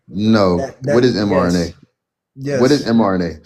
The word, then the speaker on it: mRNA: Dude, we were speaking on the vaccines in the last 5 years that contain RMNA. mRNA, Yeah, my bad.